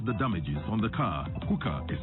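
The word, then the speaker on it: Huca: Hookah is spelled H-U-C-A.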